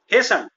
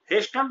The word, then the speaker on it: hastened: हेसन, यहाँ पे T silent रहेगा, हेस्टन ना होकर इसका प्रोनाउंसिएशन होगा हेसन।